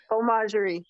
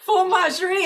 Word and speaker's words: Fauxmagerie: Nope, FAUXMAGERIE, like faux. FAUXMAGERIE.